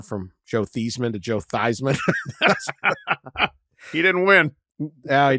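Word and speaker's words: Theismann: at Notre Dameon they he used to pronounce his name Joe theeman and they as part of the Heisman campaign they changed his the saying of his name this is a prominent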